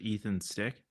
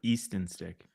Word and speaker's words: Easton Stick: is he friends with Ethan stick Ethan stick who's e East sorry Easton stick East oh Josh you